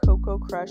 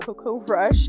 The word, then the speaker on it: Coco Crush: past couple of videos it's called Coco crush not Coco brush and then I'm going